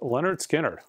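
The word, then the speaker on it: Lynyrd Skynyrd: records you should own list Leonard skinnard it's pronounced Leonard skinnard killer record we've got hits this is the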